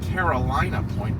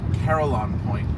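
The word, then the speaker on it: Carillon Point: I always mess up how to pronounce I called it Carolina Point, but it's actually Caroline Point. Oh God, I'm going to butcher that name. Someone help me. Caroline Point.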